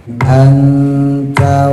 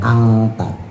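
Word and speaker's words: أنتَ: Anta wa zaujuka anta. Nun mati ketemu ta. Ik ifanya akrab condong ke en anta. Jadi bukan angta.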